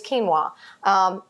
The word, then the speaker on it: quinoa: are made from quinoa and that spelled cute UI Noa I know you're probably looking at that all the time and saying how do you say that : oh why am i ah it's quinoa that is a super